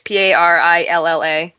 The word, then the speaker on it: Parrilla: Parrilla, or I don't know how to say it. It's Parilla. She's such a sweetheart.